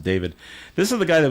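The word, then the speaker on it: D4VD: He he spells it D, then the number four, then the number then the letter V, and then the letter D. But you pronounce it David.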